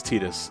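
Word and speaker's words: Tidus: tightest I always okay I did say Titus originally and then I I always thought I heard that from time to time and then I play kingdom hearts and they pronounced his tedious I was like he must adapt we meet at last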